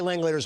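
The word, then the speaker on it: Langeliers: stats I interviewed Shay Lang leaders once and I go rhymes with chandelier right he's like yeah that's what I always tell people Shay lers rhymes with chandeliers well he was hanging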